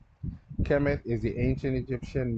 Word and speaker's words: Kemet: Kemet is the ancient Egyptian name for Egypt, pronounced Kemet.